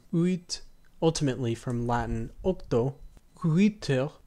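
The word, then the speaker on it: huître: Uiter, spelled H-U-I circumflex T-R-E, from uiste, ultimately from Greek through Latin ostrea.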